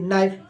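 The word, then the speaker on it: knife: के नोक खटखटाना के एन आई एफ ई नाइफ यानी चाकू के एन ओटी नोट यानी गांठ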